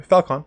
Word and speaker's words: Felkon: How do you pronounce Felkon's name? Felkon.